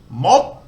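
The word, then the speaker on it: มด: So if we go back to the tone rules and we look for a low class, dead syllable, short vowel, we get a higher tone. Mod, and that means ant in Thai.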